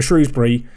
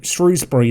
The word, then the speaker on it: Shrewsbury: break away and unleash a counter-attack here for shrewsbury can we put an attacker we don't need to it goes wide of the post also i've said shrewsbury shrewsbury there it's not it's shrewsbury everyone if you